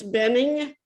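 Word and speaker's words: Buening: Benning? I don't, yeah, sorry, B-U-E-N-I-N-G. It's Benning, the U Benning, is silent. Thank you. Betty, It Betty, looks weird, but it's the U silent.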